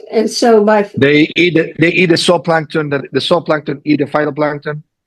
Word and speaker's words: zooplankton: I think he's probably saying it right, but it's like zoo, ZOO.